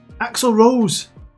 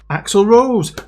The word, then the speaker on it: Axel Rose: They tried telling me how to say his name. Axel Rose. Actually, Axel Rose.